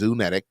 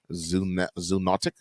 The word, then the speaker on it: zoonotic: so i was right it says zoonetic i think i pronounced that properly zoonotic zoonotic diseases that cross over to